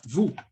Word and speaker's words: vous: Sempre que eu tiver OU no francês, então aí eu vou ter som de U do português.